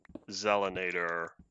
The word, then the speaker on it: Zelinator: The reason why it's pronounced Zelinator is because it's easier to say than Accelerator. Like that's where the pronunciation comes from. Z is easier than X.